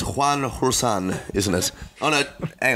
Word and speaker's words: Rusin: We just clarified the pronunciation of the name, and it is definitely Rusin, which I'm glad to have got that off my chest, because I would have stuffed it up off the bat.